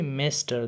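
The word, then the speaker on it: Mister: میسټر دا ام ای اس ټي ای آر دا ماسټر نه دی، تلفظ یې میسټر دی.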